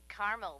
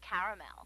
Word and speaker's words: caramel: it in Carmel actually you said Carmel when it's pronounced caramel can't we just call it